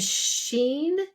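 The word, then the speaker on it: Shein: it was teu and Sheen which looks like shine is Sheen really they really because I'm like Sheen is really known for clothing I've been on there numerous times so they're looking at Sheen as one of their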